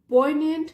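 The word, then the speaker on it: poignant: सर्वस एज अ पॉइंट इसको पढ़ेंगे जी silent है पॉइंट this day सर्वस एज अ पोनेंट reminder of हिज टायरस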